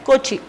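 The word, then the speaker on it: Cauchy: ese producto se denomina producto de cochi se escribe cauchi pero se debe pronunciar en la lengua original eso y es Bueno entonces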